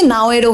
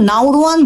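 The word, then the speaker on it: Naoero: মূলত স্থানীয় নাওরোয়ান ভাষায় বহু আগে থেকেই দেশটি নাও এরো নামে পরিচিত ছিল। কিন্তু ইউরোপীয় নাবিক ও বিদেশীরা স্থানীয় উচ্চারণ ঠিকমত বলতে না পারায় ধীরে ধীরে এটি নাওরো নামে পরিচিতি পেয়ে যায়।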